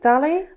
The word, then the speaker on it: DALL-E: researcher for DALL-E is how do you say it? DALL-E? I see it like WALL-E.